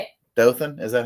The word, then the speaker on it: Dothan: it but Jasper how do you say it Dothan is that how you say it okay appar